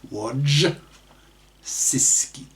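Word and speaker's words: Wojcicki: CEO of YouTube is Susan wodisi that's WJ c i c k i pronounced W sisi who is pro feminist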